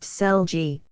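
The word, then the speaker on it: Celliers: take an average household Jan celus pronounced seli lives on his farm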